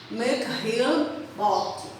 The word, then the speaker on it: Mikhail Bakhtin: Também chamado de Mikhail Bakhtin, mas ele é um russo e a pronúncia do nome russo dele é essa, Mikhail Bakhtin.